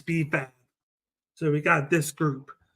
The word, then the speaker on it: B-Fab: Her name is B-Fab. Yeah, B-Fab. I knew what it was. I didn't want to say it wrong, but it's B-Fab.